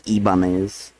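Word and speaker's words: Ibanez: head you might prefer something like an ianz otherwise pronounced as ibanes and also the uh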